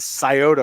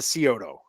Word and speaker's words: Scioto: It's Chillicothe, and it's the Scioto River, not the Scioto. Okay, everyone says Scioto. If you don't live in Ohio, you say Scioto. It's Scioto.